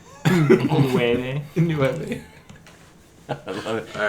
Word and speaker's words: nueve: Niete? Nueve.